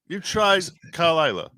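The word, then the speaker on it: Caol Ila: So, what is Kalila? The Kalila. As you would call it. As you would call it, yeah. Is it really pronounced Kalila? Basically, yeah.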